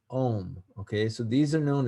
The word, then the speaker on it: ogham: earlier the it says it's spelled ogham but it's pronounced om okay so these are